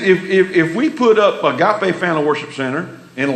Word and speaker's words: Agape: I see you again what is that it's a gap a and that's the way to pronounce it and so we so we need to be careful of name if we put up a gap a fan of Worship Center in Lamar area odds